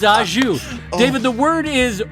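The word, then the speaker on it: au jus: alive, and they're like, the word, David, is ajou, and you're like, oh, it's not ajus? It's not ajus? Nope, it's ajou.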